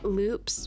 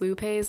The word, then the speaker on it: Lupe: know what I hate Loops which are not pronounced Lupes like I thought they were okay Loops